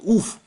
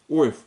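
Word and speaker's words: אויף: Но ойф пишется. Ойф. Но это у, я вот написал вам. И выделил и красным, и зеленым цветом. Чтобы эта приставка прочиталась только как у. Вот в интернете, в идиш транслите, они по-колхозному переводят как ойф.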